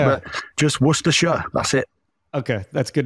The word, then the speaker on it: Worcestershire: It's just a couple of syllables. So it's Worcestershire. That's Worcestershire. Okay. That's it. I know there's a lot of Worcestershire and things when people say, but just Worcestershire, that's it.